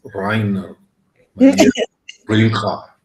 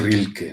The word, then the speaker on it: Rainer Maria Rilke: Y entonces, esta frase del soneto de Rainer Maria Rilke, que bueno, ya sé cómo se pronuncia en alemán y es Rainer Maria Rilke. Y nosotros le decimos Rilke, ¿no? Suena bonito.